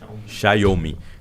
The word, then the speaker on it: Xiaomi: ex da Huawei da tem que aprender a pronúncia xiaomi xiaomi né porque o é como se fosse um tchau em italiano serve é e me